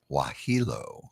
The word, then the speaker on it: Wohelo: Wahilo. Wahilo. Wahilo. Wahilo. Wahilo. That's how you say it. Like Wahilo.